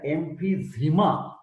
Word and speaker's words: emphysema: Try to note down the difference in pronunciation and spelling. Empyema is different and emphysema is different. EMPHYACMA. Are you getting my point? Emphysema. Emphysema is common.